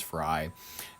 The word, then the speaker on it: Frey: We have the Minneapolis mayor, Jacob Frey, however you pronounce it, it is Frey, eating or pretending to eat Somali food in an attempted show of solidarity.